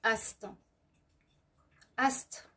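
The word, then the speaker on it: Aset: qu'on doit présenter avant, qui s'écrit A7, A-S-E-T, mais il faut le présenter, il faut l'écrire ou le prononcer Ast. Ast, divine mère, en ton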